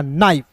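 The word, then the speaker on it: knife: कर रहता है तो एन का न और आई एफ ई का उच्चारण आई के रूप में करेंगे दोस्तों क्या हो जाएगा नाइफ के एन आई एफ भी नाइफ हो जाएगा।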